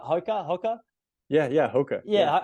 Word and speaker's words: Hoka: Hoka.